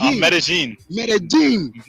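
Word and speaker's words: Medellín: yes how did they pronounce it it's pronounced medellin yeah so this is that this is yeah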